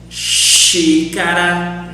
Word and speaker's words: xícara: When a word starts with X, always we will pronounce like this. Sh, xadrez. A chess, for example. Pay attention here on the examples and how do I pronounce. If the word starts with X in Portuguese, sh, xadrez, chalé, xícara, xereta. Always do this.